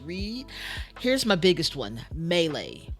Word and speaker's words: melee: here's my biggest one melee which is a French word melee there's an accent on the second e third e technically second